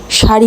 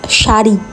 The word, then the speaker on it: শাড়ি: উচ্চারণ করতে পারে না যেমন ওরা সারি বলতে পারেন ওদের বলতে হয় সারি কেন ভাই সারি আবার কি হোয়াট ইজ সারি ইট ইজ শাড়ি মনে হয় বাংলায় যদি